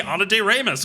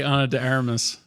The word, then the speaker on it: Ana de Armas: You say Ana de Armas all the time. It's wrong. No, I say Ana de Armas. No, this is the first time you've said it right on the microphone.